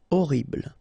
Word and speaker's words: horrible: Horrible. Okay, first letter is H, but then we don't pronounce H, so you don't pronounce it. And the first thing you hear is O. Horrible.